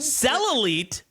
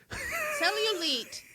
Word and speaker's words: cellulite: Cellite. Cellulite.